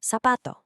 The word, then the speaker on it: zapato: In Latin America, which is most of the Spanish-speaking world, this just sounds like an S. So the word for shoe, zapato, is pronounced zapato.